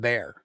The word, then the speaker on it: Bexar: I mean, obviously, I don't think you guys have bear. We do not have bears. Even though you're pronounced Bear County.